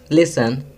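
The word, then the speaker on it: listen: Third, लिसन, T silent है।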